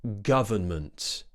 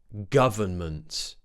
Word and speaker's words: government: me pronounce it firstly government government however you might hear a lot of native speakers just say government where they actually remove the n in the middle so instead of saying